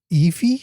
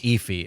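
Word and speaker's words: Aoife: Ephy. Ephy. It's uh it's spelled A O I F E, but it's pronounced Eye.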